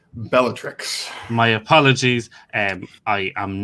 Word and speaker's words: Bellatrix: potter and philosopher stone and then be it beatrix lestrange is the person who killed dobby 14 3 at this stage yes andrew i believe it's pronounced bellatrix my apologies and i am not very good